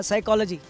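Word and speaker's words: psychology: मैं आपको देना चाहूंगा साइकोलॉजी साइकोलॉजी शब्द है जिसमें पी साइलेंट है शुरू में हम पढ़ेंगे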